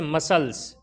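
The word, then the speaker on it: muscles: इसी तरह science, science के अंदर भी एस के बाद सी आया है तो साइलेंट हो गया है। इसी तरीके से मसल्स, मसल्स के अंदर भी क्या हुआ है, एस के बाद सी आया है तो साइलेंट हो गया है।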